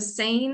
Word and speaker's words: SANE: a start team typically so a sane is how the middle one is pronounced it is a sexual